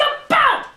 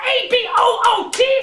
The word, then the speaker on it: about: you socially polite freaks it's about a-b-o-u-t not a-b-o-o-t stop saying a boot this is a boot